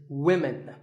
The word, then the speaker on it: women: you always say often one word that's often mispronounced by learners of English is women this is of course because of the English language is crazy spelling system but remember that we say woman for one woman and women for the